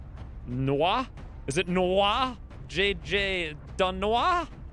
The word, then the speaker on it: noir: you missed me and it's not pronounced as noise but americans will be americans noise noir is it noir jj da noir it's